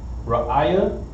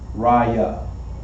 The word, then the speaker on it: Raya: Our next word, when we first see it, It looks like Ra'aya, but this is going to be pronounced Raya.